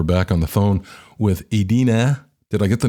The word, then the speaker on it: Ydine: Okay, we're back on the phone with Ydine. Did I get the name right? It always throws me. Ydine. Yeah, it's a tough one. It's actually Ydine. Ydine.